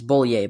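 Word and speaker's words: Bollier: time pronouncing her name it's bullier by the way uh she is running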